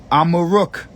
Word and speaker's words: Amaruk: Amaruk is how you say Morocco in the Berber language.